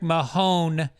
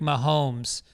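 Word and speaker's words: Mahomes: a ton of these you pronounce Patrick Mahone when it's actually Patrick momes also you gave a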